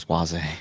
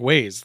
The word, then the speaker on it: Waze: how you say that how do you say it i thought it was swazi no it's like ways like the ways to get there yeah i'm uh an